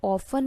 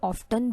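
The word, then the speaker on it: often: Guys, यहाँ पर ऑफन और ऑफ्टन दोनों तरीके से आप प्रोनाउंसिएशन कर सकते हैं, दोनों ही करेक्ट प्रोनाउंसिएशन है, ऑफ्टन या फिर ऑफन।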